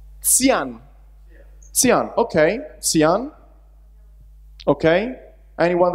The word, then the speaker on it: Qian: The correct pronunciation is Qian. Qian. Sorry. Qian. Qian. Okay, it's palatalized affricate. Qi. And then it's not a, it's pronounced e in this case, in this kind of syllables, in this kind of endings.